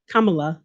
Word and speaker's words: Kamala: elect president-elect joe biden and vice president kamala kamala sorry i had to say it right kamala